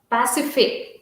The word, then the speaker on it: Pasiphae: Sorry, Pasiphae.